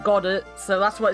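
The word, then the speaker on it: Godot: It's pronounced Gedo. I'm still going to call him God, though. I'm sorry, but I like pronouncing it God, so that's what it's going to be.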